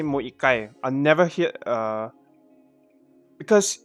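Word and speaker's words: 一回: this mo that's why that's why it's more ikai not more ichikai because ikai is the way you pronounce one one one time or one one revolution uh i don't know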